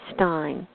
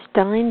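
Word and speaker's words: Stine: Harry Stein. That's spelled S-T-I-N-E.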